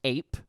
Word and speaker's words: AIP: So they're launching this, the Ads Incentive Program, or the AIP, which is pronounced APE.